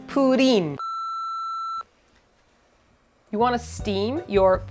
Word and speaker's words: Purin: I'm going Purin, but it's Purin.